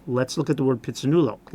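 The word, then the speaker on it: Phitsanulok: Yeah, yes, but it's pit, sa, two separate syllables.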